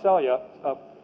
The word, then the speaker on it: Selye: I'll talk a bit about Celia, and then we'll be done for today. It's pronounced Celia.